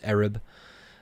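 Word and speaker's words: עָרַב: same hebrew word um more properly pronounced as arab and this is uh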